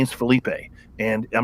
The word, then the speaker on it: Felipe: wrong I said no my name is Felipe it's not and she goes well that's how we say it in Texas well lady I don't live in Texas and my name is Felipe and I'm not gonna